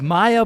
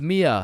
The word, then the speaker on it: Mia: Wait, what the Is is Maya present? Uh, it's it's Mia.